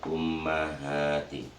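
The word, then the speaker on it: أُمَّهَاتِ: Muhammadin Sarimin aba ihwal ummahati jadi bacanya seperti itu bukan umat ya banyak yang bertanya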